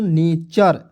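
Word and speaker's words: nature: पे क्या कहता है वड के लास्ट में यू आरई वर्ड के लास्ट में यू आरई आया यू आरई आया तो उसको उच्चारण क्या हो जाएगा दोस्तों अर के रूप में तो यहां प देखिए एन ए टी य आर क्या हो जाएगा दोस्तों नेचर जैसे यहां पे यहां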